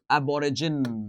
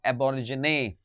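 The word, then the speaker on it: Aborigine: दोस्तों, आज का हमारा वर्ड है एबोरिजिन। दोस्तों, एबोरिजिने। आप अगर इसको पढ़ेंगे तो एबोरिजिन भी पढ़ सकते हैं, एबोरिजिनी भी पढ़ सकते हैं।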